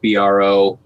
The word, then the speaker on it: Brault: And I just make it easy for everybody and spell it BRO, because that's how it's pronounced, but spelled a little differently.